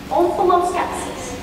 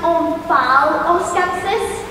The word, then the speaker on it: omphaloskepsis: Yes, and you got omphaloskepsis. But are those rated with the same level of difficulty? They're both level 1 words, yes. Omphaloskepsis. Could that also be pronounced omphaloskepsis? It can. It would be wrong.